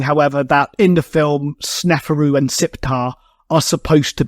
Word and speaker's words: Sneferu: to be Sneferu, but they've just pronounced his name wrong and called him Neferu. Though, I guess by the same token, pretty much every aspect outside of this doesn't resemble Sneferu in the slightest, so